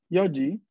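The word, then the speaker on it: 四時: Vemos cómo Yoji, acá a las cuatro, cómo tiene una forma distinta, ¿no? El número cuatro respecto al número estándar. ¿Cuál es la pronunciación estándar? John. Yondes, hi. Pero aquí tenemos Yo, ¿no? Yoji.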